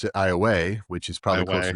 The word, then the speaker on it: Iowa: So, Iowa, Louisiana, they pronounce it IA, which is probably close to the Iowa way in Native Americans.